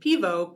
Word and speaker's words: Piwo: Jane, spelled Grzane, is mulled, and Pivo, Piwo, is beer in Polish. Pivo.